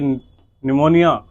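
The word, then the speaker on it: pneumonia: ये क्या करता है, ये निमोनिया, ई साइलेंट है, ठीक है, निमोनिया को फैलाता है, निमोनिया इससे फैलता है।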